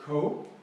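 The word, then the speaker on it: 口: Yes, it means mouth, and it's pronounced ko because the dragon is standing in the cold.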